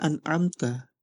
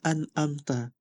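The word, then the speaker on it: أنعمت: Contohnya, dari Al-Fatihah, harusnya an'amta, tapi Zen ini dibacanya an'amta, seperti itu.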